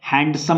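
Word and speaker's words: handsome: had cried option B identify the silent letter in the word ಹ್ಯಾಂಡ್ಸಮ್ ನೋಡ್ರಿ ಓದುವಾಗ ಹ್ಯಾಂಡ್ಸಮ್ ಅನ್ನಂಗಿಲ್ಲ ನಾವು ಹ್ಯಾಂಡ್ಸಮ್ ಹ್ಯಾಂಡ್ಸಮ್ ಏನೆಲ್ಲಾ ನಾವು ಬಿಡತೀವಿ ಡಿ ಬಿಡಾತೀವಿ ನೋಡ್ರಿ ಅದ ಸೈಲೆಂಟ್ ಲೆಟರ್ ಅಂದ್ರೆ ಏನು ನಾವು ಉಚ್ಚಾರಣೆ ಮಾಡುವಾಗ ಯಾವ ಅಕ್ಷರವನ್ನು ಉಚ್ಚಾರಣೆ ಮಾಡಂಗಿಲ್ಲ ಅದಕ್ಕೆ ನಾವು ಸೈಲೆಂಟ್ ಲೆಟರ್ ಅಂತ ಕರೀತೀವಿ ನಾವು ಇಲ್ಲಿ ನಾವು ಹ್ಯಾಂಡ್ಸಮ್ ಇಲ್ಲಿ ಡಿ ಉಚ್ಚಾರಣೆ ಮಾಡುತ್ತಿಲ್ಲ ಅದಕ್ಕೆ silent letter D option A the rhyming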